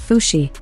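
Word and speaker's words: Fuxi: according to Chinese folklore fushi or fushi pronounced fushi and his wife n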